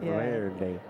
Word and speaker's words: Verde: that's green right or Verde depending on your pronunciation um ver day you have to roll your R of ver day only the bad words